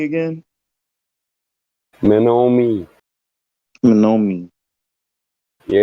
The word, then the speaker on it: Menominee: What's the proper way to say Menominee again? Menominee. Menominee. Yeah, you got to pronounce that O.